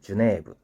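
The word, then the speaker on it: ジュネーブ: 자, 여기서 이제 주네브는 제네바를 주네브라고 합니다. 주네브.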